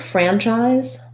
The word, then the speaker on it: franchise: start with franchise um where the stress is on the fran syllable we have the a vowel that we were talking about in brad so again i would build it from the r i would try ran fran and then the chi's syllable has the the sound that we associate with ch the letter i says it's name it's the i diphthong and the letter letters sc say the z sound and then the e